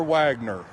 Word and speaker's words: Wagoner: dolly by his side now some of you may say his name different but as a redneck from alabama we always say porter wagner and it may be pronounced wagoner but from where i'm from we always said porter wagner what an interesting life